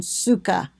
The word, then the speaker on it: sukkah: common use throughout the land the Hebrew word suka originally meant woven see there they've got it spelled su ke ka h so you know - that's the pronunciation suka originally meant woven temporary shelters were woven together